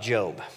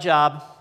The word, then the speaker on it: Job: testament uh called joke it's spelled like job but it's an inside thing we all know we're supposed to say job none of us know why but we do um and